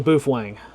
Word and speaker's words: Baofeng: Is Baofeng pronounced Boofwang or Baofeng? It's definitely Boofwang.